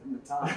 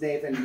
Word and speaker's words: Nathan: And we both always remembered how hilarious it was that there was this guy with the spelling Nathan who pronounced it Natan. It's like, no, it isn't. It's Nathan.